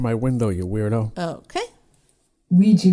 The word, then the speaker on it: Ouija: Ouija board. That's how you say it in the US. But in the UK, Ouija board. so there you go. It's Ouija in the UK and Ouija in America.